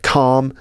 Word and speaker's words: calm: not almond it's Armen other words with a silent L while we're on the subject uh calm you know uh calm and quiet calm c a l m calm Palm the palm of